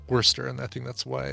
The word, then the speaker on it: Worcester: to pronounce it correctly you don't even pronounce the r it's worcester it's just worcester and worcester in massachusetts but in the uk i believe it is pronounced wurster and i think that's